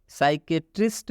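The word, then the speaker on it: psychiatrist: है मनोचिकित्सक साइकेट्रिस्ट में साइकेट्रिस्ट में सबसे पहले पी आया है और पी के बाद एस आया है इसलिए इसलिए इसमें पी साइलेंट होता है कभी भी पी के बाद पी पी के बाद एस आता है तो यह पी साइलेंट हो जाता है मतलब पी का उच्चारण नहीं किया जाता है नेक्स्ट साइकोथेरेपी इसमें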